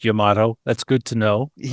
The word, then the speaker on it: Yamato: And for the record, it is pronounced Yamato.